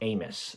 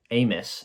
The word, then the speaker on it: Amos: that super good apparently the book is pronounced Amos not Amos which I never understood